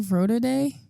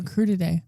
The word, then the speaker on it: Crudite: Frodo Day? This is Crudite. Oh, Crudite.